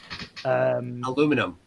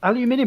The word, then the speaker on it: aluminium: Aluminum. It's aluminium. It's how it's spelt.